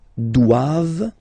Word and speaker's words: doivent: And then the last one, ils doivent. So same thing, classic ending for the plural form, E-N-T here. Okay, but then you don't pronounce it.